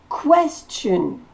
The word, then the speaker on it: question: Question. Question. Le T-I-O-N se dit ch.